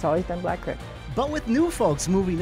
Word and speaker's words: Black Creek: You know, I know the dictionary says creek, but it was always Black Creek. You know, it's been like that for 70 years to me. For folks who grew up in the village, the pronunciation for most really boils down to what they were taught. I believe they're not locals when they say creek. It's always been Black Creek.